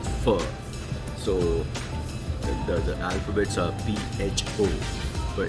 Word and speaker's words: pho: So the alphabets are PHO, but it's pronounced as pho.